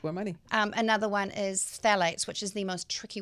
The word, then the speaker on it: phthalates: Another one is phthalates, which is the most tricky word to pronounce and spell. But phthalates.